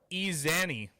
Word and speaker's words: Eziani: Let's try it again. Izani. Yeah, Udoka Izani.